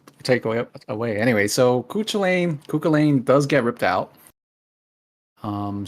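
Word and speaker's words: Cú Chulainn: card I I've heard Cain Cain it's it's culain he and then there's a weird pronunciation with uh what is it kullan whatever ever the heck that is ignore how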